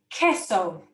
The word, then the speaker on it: queso: example i've given is queso queso which means cheese and the u after a q in spanish is silent so that's not pronounced